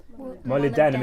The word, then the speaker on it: molybdenum: the room model it actually has how to pronounce it down there mo lib denim denim molybdenum is one of the toughest transition metals it's